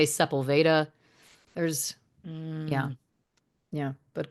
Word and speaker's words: Sepulveda: There's also Sepulveda, but people say Sepulveda.